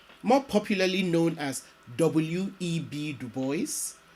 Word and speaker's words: Du Bois: legend william edward berger du bois more popularly known as w.e.b du bois and yes du bois not dubois and being faithful to the way he pronounced his name w.e.b dubois was a